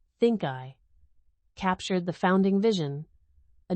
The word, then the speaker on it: ThinCI: The name ThinCI, pronounced ThinkEye, captured the founding vision: